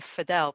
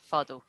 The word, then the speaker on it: Fadl: But we all say Fidel because it's just so much easier. So we anglicize it for here, but it's actually pronounced Fadl.